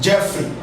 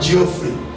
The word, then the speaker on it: Jeffrey: not body is buried this is jeffrey not geoffrey he is jeffrey jeffrey let's let's look